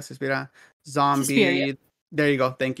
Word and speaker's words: Suspiria: Suspira, Suspiria.